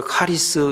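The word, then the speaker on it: χάρις: 우리말로 도 발음이 비슷하지만 헬라 말로 도 은혜와 은사가 발음이 비슷합니다 은 애런 말을 갖다가 우리 카리스 이렇게 말합니다 은사 라는 걸 갖다가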